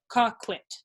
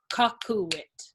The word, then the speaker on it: coquit: With the word cocuit in English, that would be 2 syllables. Coquit. Right? But in Latin, they're going to actually turn that into 3 syllables. Cocuit.